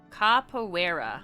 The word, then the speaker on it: Caoera: Caoera. I had to look it up because I was saying it wrong.